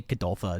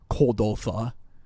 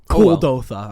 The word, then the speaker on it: Kuldotha: I say Kadoltha instead of Kuldotha. Kuldotha.